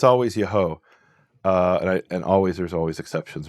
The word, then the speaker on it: Yeho: And what we find is at the end of a name, it's always Yahu. Right. Now that contrasts when the Yud He Vav is at the beginning of a name, and it's not Yahu. At the beginning of a name, it's Yeho. So we have the same exact name, Netanyahu.